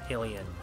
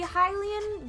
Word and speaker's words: Hylian: you guys pronounce hylian alien hylian i i do both i do both typically when it's the shield i say hylian shield yeah it's definitely supposed to be hylian because it's the goddess hylia yeah but